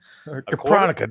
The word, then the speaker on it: Kapronica: Kapronica, that's how you pronounce it.